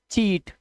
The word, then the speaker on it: cheat: अगर सी के आगे H हुआ तो, अब ध्यान से देखना कैसे, CHEAT, ये हो गया चीट, चीट माने धोखा देना।